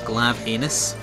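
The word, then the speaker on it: Glavenus: Think you'll find it's pronounced Glavinus. Glavinus.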